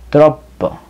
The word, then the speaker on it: troppo: en italiano se dice tropo la doble p se pronuncia doble tropo no es demasiado caro